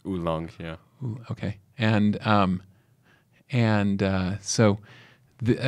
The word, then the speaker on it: oolong: I think it's oolong.